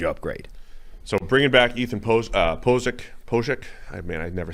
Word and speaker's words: Pocic: So bringing back Ethan Pocic. I mean, I never say his name the right way. Pocic?